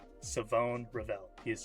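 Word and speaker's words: Shavon: Absolutely love, Savone Ravel. I always forget, he has a silent H in the first name. It is not Siobhan or Siobhan, it is Savone.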